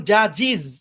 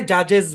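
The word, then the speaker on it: judges: Original কিন্তু original উচ্চারণ, এই শব্দের অরিজিনাল উচ্চারণ হচ্ছে রোজিজ, এটার অরিজিনাল উচ্চারণ বাসিজ, এটার অরিজিনাল উচ্চারণ জাজিজ। তো এত শুদ্ধ দরকার নাই, জাজেস বলেন, এস দিয়ে বলেন, নয়তো দেখা যাবে কি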